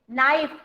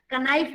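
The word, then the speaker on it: knife: नाइफ. Abhiraj, नाइफ. K is silent in this word. Very good, क्योंकि मैं बोल के दिखा रही हूँ, आपको पता भी चल रहा है. कनाइफ नहीं बोल रही हूँ मैं.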